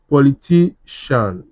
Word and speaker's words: politician: ma- politician po- li- ti- politician, yeah. So, where is the stress? This place, ti- ti- a I hope you guys can see it too.